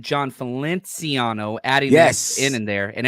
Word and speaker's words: Feliciano: The amount of emails I got, I've been saying John Feliciano, adding that in there, and everybody keeps correcting me. It's Feliciano.